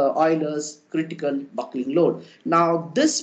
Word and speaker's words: Euler: was first formulated by Oiler so you basically people pronounce them as uler or various names but definitely the various people pronounce him as OA so this is the name that is generally practiced even I have most